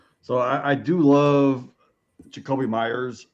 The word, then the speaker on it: Meyers: Uh His last name is actually pronounced Meyers.